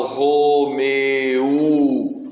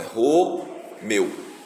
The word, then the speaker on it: Romeu: Eu não falo Romeu. Não, é Romeu. É uma vez só. Eu abro a boca uma vez só para falar meu. Eu não falo meu.